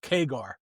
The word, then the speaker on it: CAGR: Yeah, so CAGR It is pronounced keger.